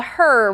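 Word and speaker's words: HRRR: And then the other one is going to be what we call the her model or a lot of people call it the her. It's HR RR. So, you know, kind of just phonetically looks like her.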